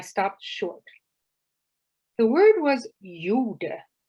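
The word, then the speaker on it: gjorde: the word for did which is pronounced pretty much like yoda from star wars my eyes shifted from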